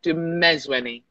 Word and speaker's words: Dumezweni: you understand the stress where the stress is norma du mezweni ah second syllable stress money that's it beautiful